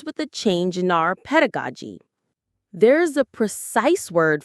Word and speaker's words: pedagogy: Pedagogy. Pedagogy. The stress is on the ped syllable. Pedagogy.